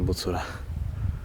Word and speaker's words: Bucura: bucura pełnej okazałości powołuje wymawia się w Koranie bucura to już sprawdziliśmy dobra